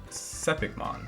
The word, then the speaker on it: Sepikmon: to figure out where sepikemon is also looked at that believe it's um sepikmon that's how you say it um so i'll define